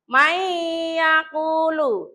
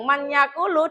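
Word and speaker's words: مَن يَقُولُ: Nah, bacanya nunnya itu lebur, jadi langsung masuk ke ya. Mayyakulu. Nah, yang manyakulu dibaca mayyakulu.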